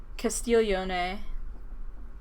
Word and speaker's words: Castiglione: imagine watching PewDiePie that's a low IQ move Casteel yone that's it says I pronounce that wrong like 15 times it doesn't